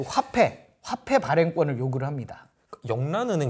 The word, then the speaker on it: 영란은행: 그러니까 국왕한테 맡길 수 없으니 민간은행인 영란은행에 맡기겠다. 잉글랜드 은행에 맡기겠다. 그래서 잉글랜드 은행이 그 화폐 발행권을 요구를 합니다. 영란은행 제 이름이 그러니까 명칭이 영란은행이라서 그러는데 이게 그러면 한자로 발음을 잉글랜드를 발음하면 영란으로 발음을 한다고 그래요.